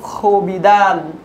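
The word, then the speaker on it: خوابیدن: এরপরের শব্দ খবিদান, খবিদানের অতীতকালের রূপ খবিদ। এখানে লক্ষণীয় ব্যাপার, এখানে খে ওয়াও আলিফ দেওয়া আছে, এর উচ্চারণ খ এরকম হয় না, খ সাধারণ খ,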